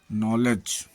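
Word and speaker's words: knowledge: के silent, N के पहले आया हुआ के प्रायः साइलेंट हो जाता है, जैसे नी, घुटना, नॉलेज, knife, not. L silent, D L silent, D एफ के तथा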